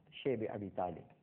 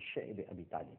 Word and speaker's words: شعب ابی طالب: اور اس کے بعد شیب ابی طالب، جس کو بعض حضرات شعب ابی طالب بھی کہتے ہیں، لیکن جس کا صحیح تلفظ ہے وہ شعب ابی طالب ہے، ایک گھاٹی تھی، آج